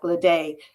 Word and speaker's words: Ledet: Although it sounds like Ledet, uh, Cajun French, got to pronounce it the French way.